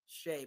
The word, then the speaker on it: Shai: a time you know whenever I see his name it's pronounced Shay but it's spelled Shai and those 80s babies